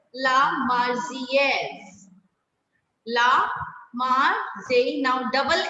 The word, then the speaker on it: Marseillaise: It's La Marseillaise. La Marseillaise. Now, double L will be silent here. Like I always tell you, double L is always silent in French words. So, La Marseillaise.